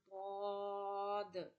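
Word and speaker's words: ض: This is called bod. Bod. Bod. Bod is pronounced from the sides of the tongue and upper molars.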